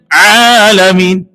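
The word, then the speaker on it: العالمين: Huruf ain tidak diusahakan dengan tekanan. Alhamdulillahi rabbil alamin. Harusnya kan alamin. Ya. Artinya beda nggak? Beda, Pak. Kalau alamin dari kata alamun, artinya sakit, penyakit.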